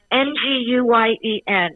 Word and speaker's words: Nguyen: And it's Nguyen. Everyone pronounces it different.